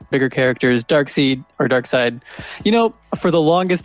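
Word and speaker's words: Darkseid: oh i get it i bet you were saying it right first and then went across the executive table and they're like dark seed we can't call someone dark seed jesus and they just change the way you pronounce it that's jesus why did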